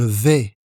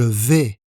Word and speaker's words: vais: Je vais. Je vais. On ne prononce pas le S final.